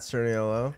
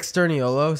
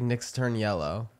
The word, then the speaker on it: Sturniolo: Like Nick Sturniolo sounds like Nick's turn yellow. Nick. Like Nick turns yellow. Like that's what I always hear. That's how people like make our last name wrong when they say it.